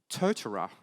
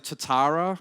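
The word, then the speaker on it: Totara: or there is a version of Moodle called tortora I was I now know this is the correct pronunciation because I was with the total folks two days ago Toth tortora but I normally say Tatara or a Totoro so that's a Moodle plus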